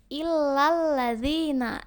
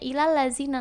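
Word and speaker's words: إِلَّا الَّذِينَ: Misalnya enggak ada tasydidnya, misalnya illal ladzina, itu kan ada tasydidnya tuh. Nah, kamu bacanya ilal lazina, nah itu bisa salah artinya.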